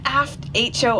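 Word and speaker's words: Aitcho: are it was that aft ho Island well remembered ho spelled with an AI t c h but phonetically ho o for hydrographic office so it was British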